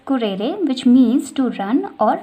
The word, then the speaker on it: currere: In Latin it is pronunciated as currere which means to run or race course.